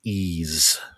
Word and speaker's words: Ys: That's how I knew they spelled it E A S E like the word ease.